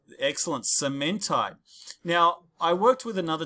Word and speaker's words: cementite: this other stuff called fe3c or called excellent cementite now i worked with another teacher who didn't call it cementite he called it semen tight right to help you remember i have a